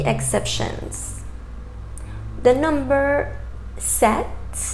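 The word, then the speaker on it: sept: The number set, set, that P is silent in that word, set.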